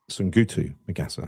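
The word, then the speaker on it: Soungoutou Magassa: Sungutu Magassa, that's how you say it, isn't it?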